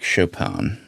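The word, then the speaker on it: Chopin: minor uh by Frederick Shopan. Oh, that's how you pronounce it. Chapan.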